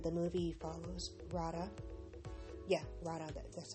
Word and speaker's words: Radha: Yeah, Radha, that's how you pronounce her name.